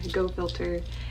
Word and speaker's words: Go Filtr: thing is amazing amazing go filter and it's spelled go and then filter as f-i-l-t-r but this is amazing